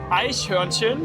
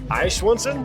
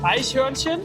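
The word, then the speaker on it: Eichhörnchen: Which is ahin. And I want you to pronounce it once. Aishwansson. Aishin.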